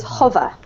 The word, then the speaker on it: hover: This one here is hover. Hover. Hover. Yep. Uh-huh. So a nice short O, okay?